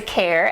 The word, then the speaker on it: Kejr: absolutely so as he says i'm care actually although my last name is you might see it as kejr and not pronounce it as hair um i actually had